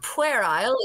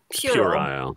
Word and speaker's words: puerile: It's not puerile, it's puerile.